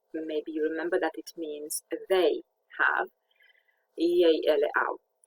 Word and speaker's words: mea: So we have ya in words such as vrea, she wants, or mea. I think we learned the possessive adjective, mama mea, my mother. And it's pronounced a little bit like the Y, the EA in ya, YEA in ya.